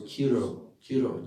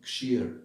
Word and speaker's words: Kshir: Yes, or Kiro Dakshai Vishnu. Kshir, actually, Kshir. But in Bengali it's Kir. That's what they call it, Kir. They don't pronounce Ksha like Kshatriya, they call it Katriya in Bengali pronunciation.